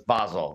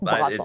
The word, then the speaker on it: Basel: It's not Basel, it's Basel. Basel. It's just the pronunciation of the Swiss town.